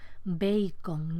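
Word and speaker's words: beicon: Bacon permanece en el español peninsular y normalmente hoy hay una forma gráfica que responde a la pronunciación bacon, ¿no? B-E-I-C-O-N.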